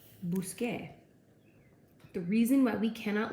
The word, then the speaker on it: busqué: The reason we can't do that is because this C, when you pair it with an E, does not make the K sound. We need to have that hard C sound. So in order to make that K sound, we have to change it to a Q.